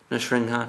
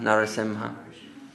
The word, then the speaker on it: Narasimha: After Varaha, Nrsimha, Narasimha. Variations in pronunciation.